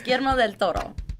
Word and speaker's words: Guillermo del Toro: I say it like I like roll a million R's. Guillermo del Toro.